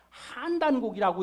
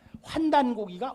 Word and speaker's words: 환단고기: 어떤 사람이 그래요 환 어떤 사람들은 그 환단고기가 아니라 한단 고기라고 읽어야 된다고 하는데 어느 것이 옳습니까 환단고기가 옳습니다 환이라 것은 자천 광명을